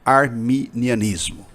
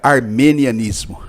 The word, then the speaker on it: arminianismo: uma primeira diferenciação né você pronunciou corretamente arminianismo certo porque muita gente pronuncia armenian ismo armeni e não tem nada a ver com Armênia né Bispo V